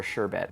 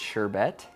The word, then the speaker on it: sherbet: Or sherbet. That's one of the things I don't really know. I think it's, formally, I think it's sherbet, S-H-E-R-B-E-T, but everyone pronounces it sherbet.